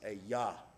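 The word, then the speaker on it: Ajah: j a h that's a yah it has to do with the hebrew language the j is a y yahweh jehovah jehovah and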